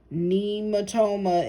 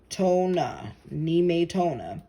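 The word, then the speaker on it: Nemetona: Nematoma is pronounced Nematona. Nematona.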